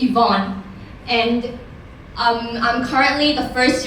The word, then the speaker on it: Yvonne: to how to spell my name and to pronounce it. So yes, it's Yvonne.